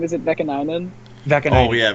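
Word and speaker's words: Vaakanainen: Is it Vekanainen? Oh, yeah, Vakanainen, yeah.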